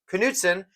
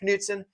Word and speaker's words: Knutsson: I found out after the Contender Series, I thought the K was silent on the Contender Series. Turns out it's not. They pronounce it with Knutsson, as they said on the Contender Series.